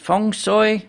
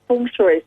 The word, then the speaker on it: feng shui: that correct is it fong soy i know some people say feng shui but i know that's not right uh well i pronounce it feng shui so i've got a bit of a cantonese yeah yeah yeah so